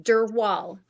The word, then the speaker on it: Drwal: future uh my full name how do you pronounce your your last name last name dur wall Dural okay wow so I got it in one